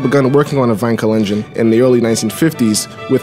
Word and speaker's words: Wankel: building the fine Kalenjin because that's the true german pronunciation not Wankel the fine coal engine